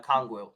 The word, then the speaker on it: Okongwu: Onyeka Okongwu.